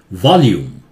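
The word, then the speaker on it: volume: ये वॉल्यूम, ल्यू, अधिकतर जगह एल यू लू होता है, लू, ल्यू नहीं होता है, वॉल्यूम में ल्यू होता है।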